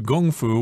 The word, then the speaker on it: kung fu: And she says, I kung-fu'd it out and shattered it. Kung fu, of course, refers to gong fu, which is a martial art. And in English, it's often pronounced as kung fu.